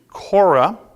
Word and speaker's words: Korah: and last week we left off there so now we go to Cora k-o-r-a-h some of the early English translations just had this spelled c-r-c-o-r-e core but Cora and this is